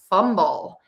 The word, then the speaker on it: fumble: So to say fumble, we have two syllables, fumble. So to do this, we are going to start with that syllable number one, fumb. And we are going to stress that syllable fumble. Syllable number two. Think about saying the word bull like the animal.